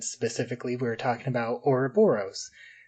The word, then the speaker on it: Ouroboros: we were talking about orboros uh or um or robor us as they pronounce it uh the third